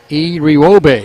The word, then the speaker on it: Iriwobe: Irivogbee. Iriwobe is the name, pronunciation for Obehi, front court Campbell.